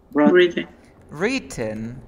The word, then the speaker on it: written: Written. Written, mm-hmm. Of course. So what is the passive form? A letter is? Written by Carlos. It's written with? Yes, written. Written. The W is not pronounced.